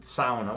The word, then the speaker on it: sauna: All right, so you pronounced it sauna with the correct pronunciation.